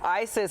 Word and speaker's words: Isis: ISIS actually came in and said that I pronounced it correctly. Okay, said it's the first time. She says Isis, like the Egyptian goddess of love.